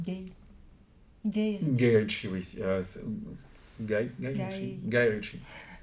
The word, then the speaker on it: Guy: On nous dit que ça se prononce gay.